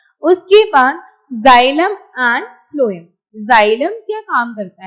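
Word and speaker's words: phloem: एफ फॉर फ्लोएम, टी से start होती है स्पेलिंग, तो बोलने में एफ आता ना, तो इसलिए. ठीक है, अगर आपको कहीं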